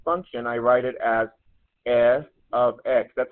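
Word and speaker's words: f(x): equation represents a function I write it as F ofx that's how you pronounce this or we look up this is pronounced f ofx f of x or if you want to say completely function of X function of x f of x function of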